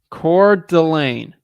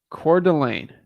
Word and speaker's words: Coeur d'Alene: research how to say it the right way core Delane Coeur d'Alene got it okay got it all right Coeur d'Alene Coeur d'Alene Coeur d'Alene all right sounds good